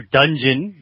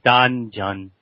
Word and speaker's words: Danjeon: But although, you know, American speakers, we say, some people hear dungeon when they hear it, but we're not going to breathe in our dungeon, but it's a Danjeon.